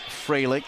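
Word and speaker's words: Froehlich: Fralick with the service. AC Fralick. And just confirming that it is pronounced Fralick, spelled F-R-O-E-H to start, but that part of it pronounced Frey, and here she goes.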